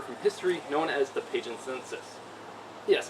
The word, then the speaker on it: Pagenses: history known as the Pagan census yes it's pronounced Pagan census not Pagan sensus trust me I got